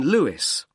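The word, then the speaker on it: Lewes: r l i s l e you don't pronounce the S carlisleway and that's in Lewis l e w e s and is there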